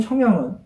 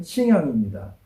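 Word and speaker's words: 荥阳: 제가 말하는 형양은 호북성에 있는 형양이 아니고 중국 발음으로 하면 하남성에 있는 싱양입니다.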